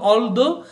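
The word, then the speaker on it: although: ছোট গ্রামে বাস করি অলদো এটার উচ্চারণ হলো অলদো আর অর্থ হলো যদিও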